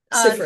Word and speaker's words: Seyfried: Sifrid, Today. yeah. Seyfried, yes.